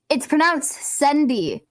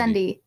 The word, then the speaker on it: Sendy: Wait, candy, not candy. Guess who, Maisie? No, who's that? It's pronounced Sendy. It's pronounced Sendy, not candy. Sendy. It's not candy.